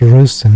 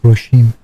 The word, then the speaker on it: Rawson: Oh, it's pronounced Rosen, not Roshim.